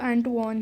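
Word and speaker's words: Antoine: इन 1769 मेजन एंटवॉन, इसकी जो प्रोनाउंसिएशन है वो एंटवॉन है।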